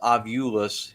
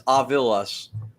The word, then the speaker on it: Ovilus: which, by the way, 99% of the public says Ovulus. It's Ovilus, Ovilus. But I think say it right, Ovilus. Yeah, but I think because of Ghost Adventures always says Ovulus, and then I think that just caught on.